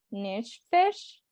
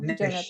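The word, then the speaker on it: נפש: el Antiguo Testamento sería nefesh. ¿Cómo sería la pronuncia en hebreo, Nefesh, Jonathan? así mismo. Nefesh, así Ok, sería la pronunciación, el alma.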